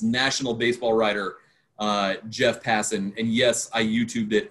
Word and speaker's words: Passan: baseball writer uh jeff passin and yes i youtubed it earlier today to make sure i got the pronunciation right because i've i've been saying hassan for a very long time uh jeff how you